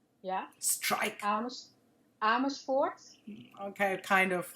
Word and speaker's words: Amersfoort: So, Marsha, you are in a little town in the Netherlands called Amersfoort, right? Yes. Did I say it right? Yeah. Strike. Amersfoort.